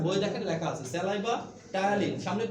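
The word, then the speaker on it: ptyalin: ঠিক আছে, বই দেখেন লেখা আছে স্যালাইভা টায়ালিন, সামনে পি দেওয়া আছে, তাই না? বা পি এর উচ্চারণটা শুধু আপনি করবেন না, উচ্চারণটা টি থেকে হবে, কিন্তু পিটা কিন্তু দিতে হবে। টায়ালিন না?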